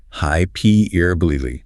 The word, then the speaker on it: hyperbole: Hi Perbily. The stress on that second syllable p is absolutely paramount for getting this one right.